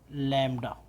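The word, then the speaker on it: lambda: ऐसा लिखते हैं, और ये बेटा पढ़ा जाता है ऐसे लिख लीजिएगा लैम्डा। ये लैम्डा लैम्डा बेटा इसका प्रोनाउंसिएशन होता है, राइट।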